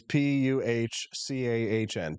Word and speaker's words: pecan: So it's Puchcahn. Pecan. Pecan. Not pecan. I You don't pee in the can.